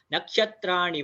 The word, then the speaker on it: नक्षत्र: नक्षत्राणि वा, इसमें पहले तो नक्षत्र, नक्षत्र का जो अक्षर है, मींस जो प्रोनाउंसिएशन या अक्षर शुद्धि, वो आप थोड़ा देख लीजिए, क्योंकि बहुत लोगों का क्ष और त्र ये बराबर नहीं निकलता। तो क्ष, क्ष कैसे बनता है, क प्लस श, क्ष।